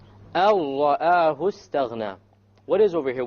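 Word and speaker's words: أن رآه: So make sure that when you do this idgham, you don't fall into the other mistake of rolling the ra. Okay? Samir, why don't you pronounce it properly? أَرَّآهُ اسْتَغْنَى.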